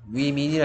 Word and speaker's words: women: 워맨이라고 읽는 사람 없네. 위민이라 했어. 위민, 지민이 아니고 위민.